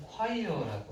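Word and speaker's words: choir: 로빈슨씨에게 하고 편지를 보냈어요 발음은 콰이어라고 하고요 합창단이라는 뜻입니다 그래서 와블로라는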